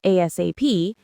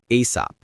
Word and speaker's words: ASAP: And speaking of ASAP, that's an acronym that stands for as soon as possible. It's pronounced as one word, ASAP.